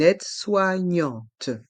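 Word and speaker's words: aide-soignante: un infirmier une infirmière un aide soignant une aide soignante un aide soignant une aide soignante il y a trois sons différents dans le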